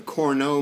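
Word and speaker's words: Cournot: One model that your author discusses is something called the corno model. That's how you pronounce that word.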